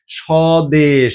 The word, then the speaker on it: স্বদেশ: করি আরো একটা জিনিস স্বদেশ তাই না সদেশ দন্তসয় কি আছে ব আছে বাট উচ্চারণের সময় কি করি না ব উচ্চারণ করি নাই এখন আমাদের উজ্য থাকে